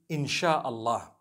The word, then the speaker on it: Insha'Allah: s-y-a they pronounce it they pronounce the s-y the way we pronounce s-h so they can write